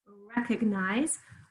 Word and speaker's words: recognize: Hear very clear E in the first syllable, very clear long I in the third syllable. Second syllable, we can hear it. Recognize. It's like saying, my stomach hurts. It's a little bit what a schwa does, and it's spelled, of course, with an O.